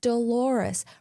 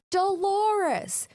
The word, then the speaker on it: Dolores: Moments later, after she leaves, he realizes it's Dolores, rhyming with the common pronunciation of clitoris. He runs to the window and yells Dolores.